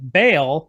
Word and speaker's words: Baal: the worship of either Baal or Baal, however you want to pronounce that. It's more faithful to the Hebrew to pronounce it Baal, but the reason why